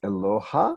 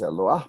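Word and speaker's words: אלוה: There is a word Eloah, meaning a divinity, which most people pronounce Eloha, but it is Eloah because it stands with a hey with a dot in it and an under it.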